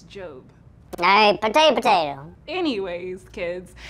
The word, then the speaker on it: Job: It's pronounced Job. I'm pretty sure it's Job.